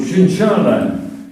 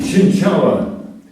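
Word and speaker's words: Cienciała: Of course, I've got a funny surname called Shinshala. And in Polish, the L has a dash through it and it's pronounced Chinchawa.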